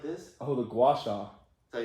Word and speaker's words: gua sha: Do you know about the Gay Shui? The Gay Shui. The tool that you can use like this. Is Oh, the gua sha.